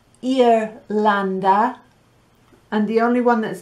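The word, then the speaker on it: Irlanda: pause in that list i think perhaps the only one that's difficult to pronounce is ireland it's ear lander and the only one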